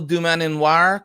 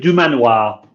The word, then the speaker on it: Dumananoir: Did I say Gilles Dumananoir correctly? I think it's just Gilles Dumananoir. Dumananoir. The second "an" is silent. It's not. It is a vestigial syllable.